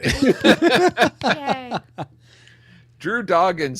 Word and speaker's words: Dodgen: That's how you pronounce his name, right? Yes, good job. You finally All got right. it. Yay. Drew Dodgens says.